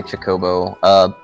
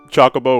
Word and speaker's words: Chocobo: bow I know it's a lot of people say Jacobo it's not there I have never heard anybody pacheco it's always choco bow or chocobo I say chocobo I've always had check